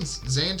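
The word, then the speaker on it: Zandt: Oh, you spell Van Zant is spelled weird, isn't it? It's like Z-A-N-D-T. Yeah, Z-A-N-D-T. Yep, Zant.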